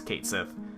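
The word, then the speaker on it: Cait Sith: Kotsthi and all that bullshit's Kate Sith. Because it looks like Kate Sith.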